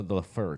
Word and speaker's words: Laffer: this thing called the Laffer Curve and they're not maximized this letter someone smart needs to get into politics and change this game Jesse I believe it's actually pronounced the the fur curve problem is Jesse's one